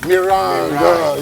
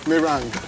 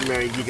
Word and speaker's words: meringue: I can't pronounce it rightly. Mirang. Yeah, that's it. Okay. Merang. Thank you. I was wondering you said Marig.